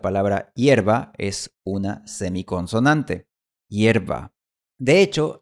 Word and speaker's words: hierba: De hecho, algunas personas pronuncian hierba como yerba. En este caso, la semiconsonante ya se ha convertido en una consonante completa. Y de hecho, la palabra hierba es una variante aceptada de la palabra hierba e incluso está en el diccionario.